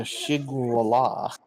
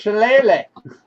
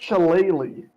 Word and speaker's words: Shillelagh: All right, who are you gonna shigwala? It's Shillelagh. Especially. The only one still up near us. This will do 25 damage, forcing him to speak on the string of silencing him. All right. It's pronounced Shillelagh. Oh, Wait, that's He's close.